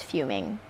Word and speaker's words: fuming: And I'm using that word because I always say fumming and mispronounce it. And I want my followers to know that I'm listening You don't know to them. she thinks it's fumming. I just want them to know I'm fixing it.